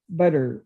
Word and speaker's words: butter: and i said no we don't pronounce our teams we we pronounce them like d's butter you know uh me